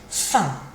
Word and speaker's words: faim: J'ai faim. J'ai faim. Kind of finishes in your nose, but you do close your mouth with a sort of sound at the end.